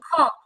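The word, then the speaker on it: خ: হ আপু কেমন যেন হ টাইপের শোনা যাচ্ছে, মানে হচ্ছে খ খ, মানে বাংলা খ আছে না, ওই খ এর কাছাকাছি, বাট হচ্ছে এখানে যে আলাদা একটা উচ্চারণ হয় গলায় খ হ খ খ। খ আর একটু শক্ত হবে, হ্যাঁ, বেশি হচ্ছে একটু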